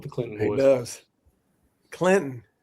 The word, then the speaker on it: Clinton: Clinton. Leave the T off, Sean.